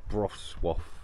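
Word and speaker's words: Wrocław: We're in Broswaff, I think they call it. Something like that. Wroclaw, it's spelt, but anyway, this is where we are.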